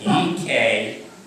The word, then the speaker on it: Ekphrasis: Joan Ryan, who served as co-curators for the Ekphrasis for poetry event tonight, and also acknowledge Leslie Ullman, who was a co-curator for that effort. Now I get to share the definition of Ekphrasis. Of what? Ekphrasis. E-K-P-H-R-A-S-I-S.